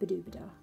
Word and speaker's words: Badobedah: That was when I named her Madame Badobedah. Rhymes with ooh-la-la.